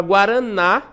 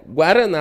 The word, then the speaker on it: guaraná: A palavra guaraná, a sílaba tônica é o na, né? Guaraná, olha só.